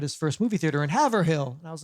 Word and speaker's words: Haverhill: Mayer had his first movie theater in Haverhill.